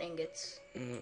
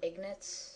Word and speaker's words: ingot: the thing with iron ingots iron ingots not sure if I'm pronouncing that right is it ignots it's it's Ingot I mean the end is before the G so you get a